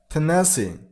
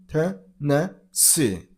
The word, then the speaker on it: Tennessee: Tennessee. And stress on the third syllable, on C sound, Tennessee.